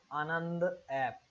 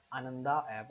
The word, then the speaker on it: Anand app: Let's move on to the next question, which is Anand app. Anand app, in English it is sometimes pronounced as Ananda app also.